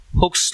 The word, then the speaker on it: Hooke: a question you will take state and explain hooke's law how to pronounce hook okay hooks law h o k